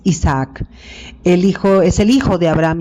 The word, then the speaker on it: Isaac: Él es el hijo es que es con doble A y no se pronuncia Isaac. Es Isaac.